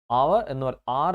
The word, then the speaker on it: hour: സോ ആർ എന്ന് പറയുന്ന HOUR ആർ, that H is silent, obviously അത് വവൽ സൗണ്ടാണ്.